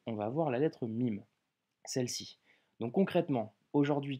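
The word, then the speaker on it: ميم: qui sera la lettre mime le mime en arabe se prononce comme un m en français que tu retrouves en français dans le mot maman hockey avant d'étudier cette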